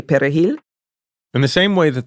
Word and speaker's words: perejil: they pronounced the word perejil, the Spanish word for parsley. Because Haitians, in Creole, we use a guttural R, and Latinos roll their R.